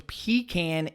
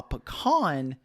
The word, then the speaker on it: pecan: does say here uh according to these findings pecan is favored pronunciation on the east coast while pecan is said in parts of texas oklahoma louisiana and mississippi nice okay it sounds